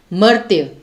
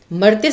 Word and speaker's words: मर्त्य: लेकिन मर्त्य, इसे इसका उच्चारण कैसे करेंगे, जैसे ये आधा त है और य के ऊपर र की मात्रा है, तो ये र जो है ये त के पहले बोला जाएगा। मर्त्य, मर्त्य से संबंधित है कि